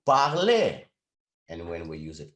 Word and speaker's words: parlez: But when we use them with vous, to that root, we add the e, vous parlez.